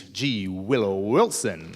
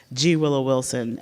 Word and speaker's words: G. Willow Wilson: down and talk with G willow Wilson and just so you know the G is silent I learned this the other day it's it's a wonderful